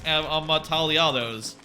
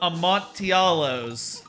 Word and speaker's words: Amontillado: Cas Amataliados. Amatadialos. How do you say that? I'm saying it all wrong, aren't I? Cask. Let me read it closely. Cask of Amontillado.